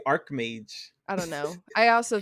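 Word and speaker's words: Archmage: go okay it says most people pronounce it like Arch while some others pronounce it like Arc because it's like arc angel oh true so she's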